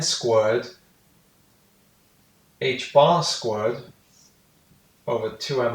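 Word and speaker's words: ħ: pi is equal to H bar so you pronounce that H bar it's essentially direct version of Planck's constant we'll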